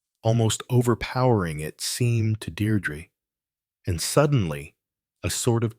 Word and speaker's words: Deirdre: Deirdre! Her heart gave a leap, and then stood still. Only one person had ever spoken her name like that, with the faint stress on the first syllable that made of it a caress.